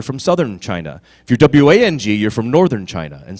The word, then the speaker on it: Wang: Okay, W-A-N-G, yeah, a lot of people, for instance, the designer, Vera, W-A-N-G, says she pronounces it Vera Wang. When I meet her, I'm gonna shake her, is what I'm gonna do. I'm gonna like, why did you do that? You know, W-A-N-G and W-O-N-G are both pronounced the same way.